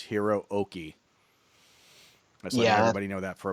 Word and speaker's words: Hiroki: just a pronunciation guy when you see like two consecutive vowels and a Japanese name so it's like two O's in a row it's not it's not Hiroki it's Hiro okey that's nobody know that